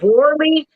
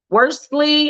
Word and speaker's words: Worley: Richard Worley. So what, you don't pronounce the S? According to his LinkedIn page, there is no S. It's WORLEY.